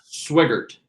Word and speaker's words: Swigart: Is it Swigart? Is that how we pronounce it? Swigart. Just Swigart.